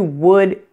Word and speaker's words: would: in these words is pronounced like the OO in the words book and good now let me show